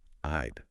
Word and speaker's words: I'd: Be sure to pronounce the D sound in I'd clearly. It's easy to mumble as contractions, but enunciating each sound will make you sound more confident and understandable. I'd.